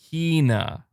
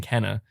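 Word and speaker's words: Kena: playstation plus which saying kina so it is kina okay i've been saying it wrong this whole time then i've been saying kenna can it just i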